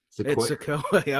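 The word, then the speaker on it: Sikoa: Hopefully, got that pronunciation correct. Yeah, it's Sequoia.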